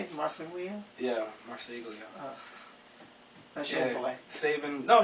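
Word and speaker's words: Marseglia: Yeah, Marsiglia.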